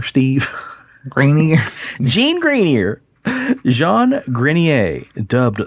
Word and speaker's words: Grenier: Jean Grenier, or what do you want to pronounce that? Greenier, Steve? Grenier.